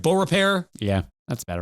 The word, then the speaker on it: Beaurepaire: Did I pronounce it right? Beaurepaire?